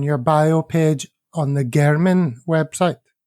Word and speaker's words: Garmin: bio page on the Garmin website. Is that how it's pronounced? Garmin? Yeah, Gurman.